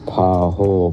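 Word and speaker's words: pahul: the Greek word po po pow p a h u l pronounced po has may have the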